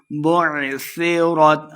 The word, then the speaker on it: بعثرت: کے پڑھنا ہے۔ قبور بعثرت، عین کو تلفظ کے ساتھ پڑھنا ہے، صحیح کلیئر۔ سیرت، سال کو نرمی